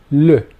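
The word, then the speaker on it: ऌ: The next vowel is also very rare and is pronounced L.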